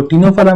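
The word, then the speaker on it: Ctenophora: अब इसका एग्जाम्पल का ट्रिक, तीन पत्ती तेरा, सिंपल है, तीन पत्ती तेरा, तीन से क्या है आपका, देखो टीनोफोरा में सी तो साइलेंट है, तो तीन से याद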